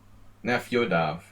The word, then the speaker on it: Nefyodov: Just make sure you spell it right. Nefyodov. It's like Yoda.